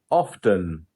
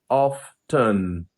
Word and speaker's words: often: Often. Often. Hmm. I often check emails late at night. Yeah, I mean he's going hard with all the T's.